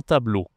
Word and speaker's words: tableau: C'est un tableau. Tableau. Board. On dit un tableau en français, d'accord ? E A U, ça se dit O.